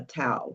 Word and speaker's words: Tao: that deals with the tao the or or the thao. Some people would say they don't even pronounce the T.